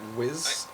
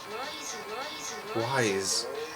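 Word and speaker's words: W'z: Whiz? Hold on, let's put the pronunciation under it. Wid? Wise. Wise. Yep, that makes so much more sense. I'm dumb, obviously. That definitely says wise.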